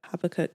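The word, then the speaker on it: Habakkuk: She's also Christian and she referenced this scripture um habacook. Is it Habacook? Right. Never heard of this book before, right?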